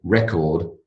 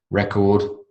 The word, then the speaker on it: record: to have an accurate record of what we discussed record and record record and record noun and verb oranges are our biggest